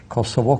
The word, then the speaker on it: Kosovo: of community of Serbia Kosovo kosova to take both pronunciations and Albania so we